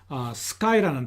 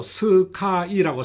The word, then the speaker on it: sky: 먼저 우리가 다 아는 sky라는 단어를 한번 보죠. 우리는 이 단어를 한글로 스카이라고 삼음절로 표기합니다만 실제로는 영어는 1음절 단어입니다.